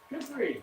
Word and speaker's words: kukri: But how do you pronounce it? Cherokee? Kukri.